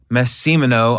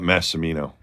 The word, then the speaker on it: Massimino: So I've got Mike Massimino on the podcast.